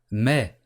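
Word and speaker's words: mais: but this how to say but in French may mei-mei again just like we have with the word not goodbye you also don't pronounce the ass you just say man trying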